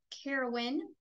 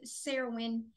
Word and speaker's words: Cerridwen: fun today we will be channeling the goddess Sarah win which is a Celtic goddess I have heard it pronounced carowind but connecting with her she would rather be called serowin and that might be the accurate pronunciation uh